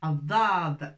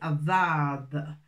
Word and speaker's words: الضاد: Et là, aujourd'hui, on va voir Addad. On sort un petit peu la langue entre les dents pour prononcer Addad.